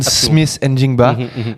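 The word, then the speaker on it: Smith-Njigba: J'adore que tu le prononces parce que j'ai dit tellement faux. Jackson Smith Njigba, pardon, ce receveur de talent qui, avec Sam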